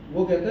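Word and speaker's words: walk: पढ़ते हैं ना टा, TAL के एल, क्यों कुलदीप जी, एल साइलेंट होता है, टॉप में, चौक में, है ना, वॉक में, है ना, वॉक मतलब चलना जैसे, तो एल जो है वो साइलेंट हो जाता है।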